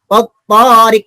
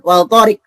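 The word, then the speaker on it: والطارق: Kita tahu ya, bacanya was-samai, bukan wal samai ya. Contoh lain. Nih, wat-tariq itu bacanya bukan wal tariq tuh. Was-samai, wat-tariq, tidak dibaca wal samai atau wal tariq.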